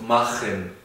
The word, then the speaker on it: machen: En ese caso sí se pronuncia como una J bien marcada, no como la H que sería Machen. Decimos Machen, no decimos Buch, decimos Buch, bien marcado como una J.